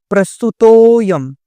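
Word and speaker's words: प्रस्तुतोऽयम्: लेकिन संस्कृत व्याकरण के अनुसार इस चिन्ह से जो पहले, तुरंत पहले, जैसे प्रस्तुत तो जो है इसको थोड़ा लंबा बोलते हैं और फिर यम बोलते हैं। इस प्रकार से बोलते हैं। कैसे? प्रस्तुतोयम, इस प्रकार से इसका उच्चारण होता है।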